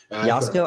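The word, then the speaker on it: Joško: Josko. I think it might be Yogging. It's a silent J.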